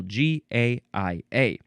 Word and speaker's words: Gaia: We have now this one we want to pronounce the Gaia. Previous episode we had was it Gaia? Where did it go? No, that one was Gia. Totally different. This one is Gaia, capital Gaia. Noun from 1975.